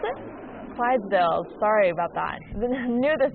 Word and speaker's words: Clydesdales: Navy Super Hornet demonstration, and the Budweiser Silosales. How do you pronounce it? Clydesdales.